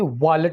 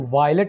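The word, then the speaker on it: wallet: में fire place कहेंगे बटवे को इंग्लिश में वालेट बोला जाता है इसको वायलेट नहीं बोलना वालेट सुई को इंग्लिश में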